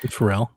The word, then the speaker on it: Pharrell: Pharrell.